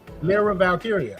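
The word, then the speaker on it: Lyra Valkyria: Lero Valkyia.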